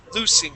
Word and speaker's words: loose: s is a uh voiceless sound okay s loosing it all right if we say lose that